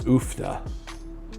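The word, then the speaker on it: uff da: But yeah, one of the words I say up here is oofda. And so I'm assuming it's spelled UFFDA, oofda.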